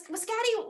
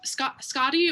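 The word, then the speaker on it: Skaði: So Skadi, or I guess like in Old Norse, it would be like Skadi, or Old Norse Icelandic.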